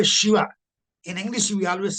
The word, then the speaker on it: Shiva: other Indian language like Canada it is called Shiva only not sh no no I am talking about pronunciation not right you like mag you write